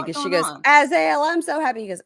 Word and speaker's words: Azael: how did Karen pronounce Azael? Is it Azael? It's Azael, but she said Aziel, I think.